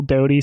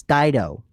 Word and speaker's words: Dido: If it did exist, it would probably mostly be you, maybe a couple Doty songs. Dido. It's Dido. Oh, thank you. Pronounced Dido. That's like, yeah, like with the Eminem song, right?